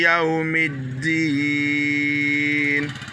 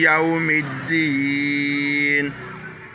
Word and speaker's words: Yawmid-Din: Maliki Yawmid-Din. Ouais, le Din là, j'ai mis deux D, ça doit être dur. Les deux voyelles I montrent ici qu'on doit tirer, c'est une longue voyelle. On doit dire I.